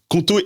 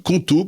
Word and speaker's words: Qonto: Conto est là pour te simplifier la vie d'entrepreneur.